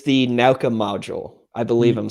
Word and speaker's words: Nauka: I don't remember how you pronounce it either. It's the Nauka module. I believe I'm saying that. That's close. Yeah. It's the new Nauka module for the ISS.